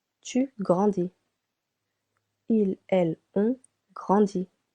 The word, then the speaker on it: grandit: Il, elle, on grandit. Silent T.